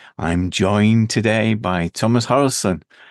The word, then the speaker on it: Harenstam: I'm joined today by Tomas Harenstam. Harenstam. How do I pronounce it, Thomas? Harenstam is good, but yeah, it's a tricky one.